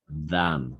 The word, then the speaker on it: than: Hofer es than, no es una D, eso lo expliqué varias veces.